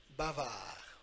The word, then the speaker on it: bavard: first sentence, je suis bavard. Je suis bavard. As you know, suis, it's like SWE, we have to pronounce it like that. Bavard, D est muet, silent D at the end.